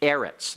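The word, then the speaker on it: אֶרֶץ: find out that later this is actually the noun eretz like eretz Israel the land of Israel aretz is a segulate noun and Accent on the next last syllable all right um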